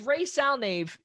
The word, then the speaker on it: Ray Salnave: Yep, just the way it sounds, Ray Salnave. So now with Ray Salnave and him being potentially